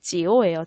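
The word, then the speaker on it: 久: 이 한자는 지오예요, 지오. 구, 지오와 성조까지 같아요. 둘 다 지오 발음의 삼성이죠.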